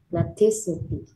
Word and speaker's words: plasticity: Plasticity. Yeah, then put the city on the last S.